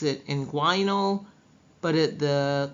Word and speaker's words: inguinal: Inguinal. Some people pronounce it inguinal.